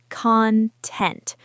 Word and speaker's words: content: Content. Stress on the second syllable.